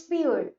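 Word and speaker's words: peer: पीर word का मतलब होता है एक्चुअली इट्स पियर, पियर, पियर। और ये जो लास्ट का आर है वो साइलेंट है।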